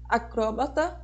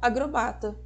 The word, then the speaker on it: acróbata: Acróbata ou agrobata.